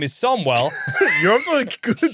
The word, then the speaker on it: Samuel: My name is Samuel, pronounced Somwell. Sorry, my name is Somwell.